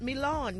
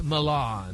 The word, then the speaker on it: Milan: the Olympic Games in Milan. Gary, did I say it right? It's Milan. Milan. That's right, baby. You got to drag it out.